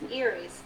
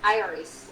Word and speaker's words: Iris: Iris or Iris. It's well in Spanish it's Iris. In English it's Iris. It's like Irlandian people like something Irish.